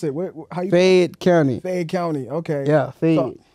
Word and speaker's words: Fayette County: you from man like you said help me pronounce it Fayette County Fayette County okay yeah like I know you told the